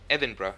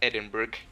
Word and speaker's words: Edinburgh: i knew that hey it's edinburgh it's not edinburgh so um uh my